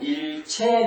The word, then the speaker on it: 일체: 자, 그런데 자, 앞에다가 한의를 붙여보면 일체 그리면요, 하나처럼 모두 똑같이 라는 뜻으로 일체라고 쓰고 있습니다. 이때는 끊을 절자리 일절이라고 읽지 않고 자, 모두라는 뜻으로는 체로 발음해서 일체라고 읽어야 됩니다.